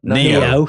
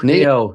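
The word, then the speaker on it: Nioh: N I O H. No, Neo. Neo. There you go. Neo. That's not I' I've seen The Matrix. I know how to say how to spell Neo.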